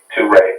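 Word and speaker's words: Touré: Toure, yep.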